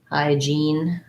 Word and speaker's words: hygiene: When we have the word hygiene, then it is an E. That one's like saying hi or up high, hygiene, or like jean that I wear.